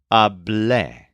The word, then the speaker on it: hablé: The form for I talked is hablé, with a stress on the second syllable.